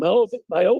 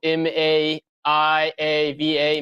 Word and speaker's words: Maiava: I think it's Mayava. I believe our Polynesian name expert, Ryan Broninger, tells me you're supposed to pronounce every single vowel. So Maiava, Mayava.